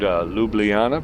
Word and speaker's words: Ljubljana: I mean, if I'm not sure of the name, how to pronounce it, I want to, Ljubljana. See? I learned Ljubljana because I didn't know it.